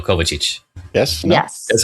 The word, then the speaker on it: Kovacic: The stress is on the O, Kovacic.